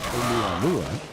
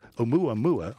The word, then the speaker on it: Oumuamua: the end of last year, were speculating that Oumuamua, I can now pronounce it. This is a great cause for celebration, because at the back end of last year I couldn't. Oumuamua, I'll say it again.